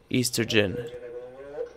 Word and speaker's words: oestrogen: Oestrogen. How to say it correct is will be Estrogen.